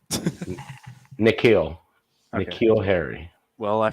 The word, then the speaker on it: N'Keal: How do I pronounce it? Nikhil.